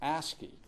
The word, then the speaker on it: ASCII: have to pronounce these things it's called It's pronounced asky and it's really a very very simple An